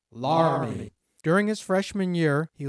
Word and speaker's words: Laramie: After graduating high school, Julius attended the University of Wyoming in Laramie, which is pronounced Laramie.